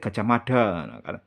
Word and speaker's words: Gajah Mada: Patih Gajah Mada padahal yang benar itu penyebutannya adalah gaj ahmada ujung lidahnya digigit ya dah ujung lidahnya di kena gigi ujung lidah kena gigi Gajah Mada itu yang bener pengucapannya seperti itu bukan Gajah Mada nah oke sumber kedua